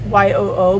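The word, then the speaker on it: Yoo: the yo flies it's it's spelled chris spells it y-o-o but it's yo she has an etsy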